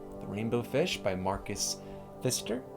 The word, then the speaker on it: Pfister: thank you for joining me for another story the rainbow fish by marcus fister i'm assuming the p is silent um if it's bedtime